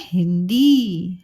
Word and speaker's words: हिंदी: ही न दी, ही नदी, ही नदी। और हम बोलते हैं हिंदी। हाँ में छोटी की मात्रा ही, आधा न और द में बड़ी की मात्रा दी, हिंदी।